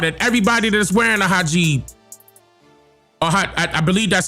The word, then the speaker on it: hijab: Soon as I got into a taxi cab, young and had on a hijab, I'm getting out.